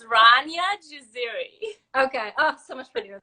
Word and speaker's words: Rania Jaziri: stuff so it's uh rania zaria almost you got the first name right which is like everybody just like butcher is my first name it's ranya jaziri okay oh so much